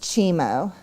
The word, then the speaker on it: Cimo: it's pronounced Chimo.